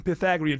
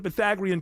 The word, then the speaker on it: Pythagorean: Pythagorean, not Pythagorean. Pythagorean. To get the Pythagorean triple, that's going to cost you extra.